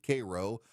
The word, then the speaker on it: Cairo: It's spelled Cairo, but they pronounce it Cairo.